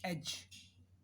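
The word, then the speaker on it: edge: जैसे एज, एज हम देखते हैं तो यहाँ पे हम G से प्रोनाउंस कर देते हैं, D इसमें साइलेंट हो गया।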